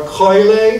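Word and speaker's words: Coele: You have Syria, Chile, and you have or Coile in the classical pronunciation, and then you have Syria, Phoenicia, Phoenicia.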